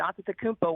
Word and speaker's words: Antetokounmpo: And then you can pronounce it the way I just did, Antetokounmpo, where there's more T's and P's. That's more of the Greek version.